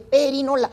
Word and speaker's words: perinola: No se dice pirinola, se dice perinola.